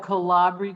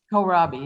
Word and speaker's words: kohlrabi: and i'm trying different things and we'll have calabria tonight is that how you pronounce it that that chinese kohlrabi kohlrabi yeah we'll have that tonight oh and it